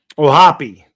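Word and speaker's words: O'Hoppe: Do you pronounce the E or is it just oh hop? He's Irish. He would know this. This guy's got an Irish name. Anything with O in front of it, right? Like anything that ends in a vowel is Italian. Pitch fouls at the plate. One and two. Oh, Hoppy. Thank you. You do pronounce the Oh, Hoppy.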